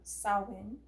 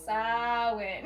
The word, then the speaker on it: Samhain: Yeah, on Samhain is how you say it. Just to let everybody know. Samhain.